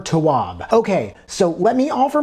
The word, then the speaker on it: Tawwab: Set boundaries, find peace by I looked this up. This is the correct pronunciation. Nedra Glover Towab.